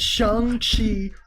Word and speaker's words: Shang-Chi: Kevin Feige, the man in charge, said Shang-Chi. We're keeping it that way.